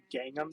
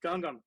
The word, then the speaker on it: Gangnam: much for Gangnam Style what really annoys me is when someone pronounces that and they keep calling it Gangnam Style and I'm like no that is not pronounced properly it is Gangnam which actually if you